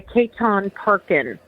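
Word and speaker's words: Chetan Parkyn: the Person You Were Born to Be, by Ketan Parkin. And that's spelled C-H-E, T as in Tom, A-N, and the last name is Parkin, P-A-R-K-Y-N.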